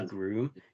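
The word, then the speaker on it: Gruum: is I don't know I think the pronunciation is groom g r u u m um and they do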